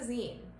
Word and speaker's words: zine: to make them so what is a zine that is spelled Zi and e it is like magazine but just the last part of the word zine started in the